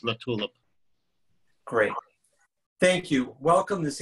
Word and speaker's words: LaTulip: The pronunciation was close. It's LaTulip.